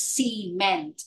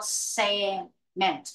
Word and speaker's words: cement: word SE okay in but this is cement not sment no C cement all